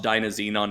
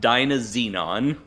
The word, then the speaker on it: Dynazenon: My recommendation is to go watch Dynazenon and Gridman instead.